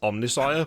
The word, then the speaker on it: Omnissiah: It is Omnissiah, but yeah, I messed that one up.